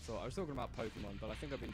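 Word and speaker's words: Pokémon: What's so special about the way I say Pokemon? Is it because like I don't say like I don't say it like a hard A, and I definitely don't say it like a hard E. Like Pokemon. Like Bill Cosby apparently said it on The Simpsons.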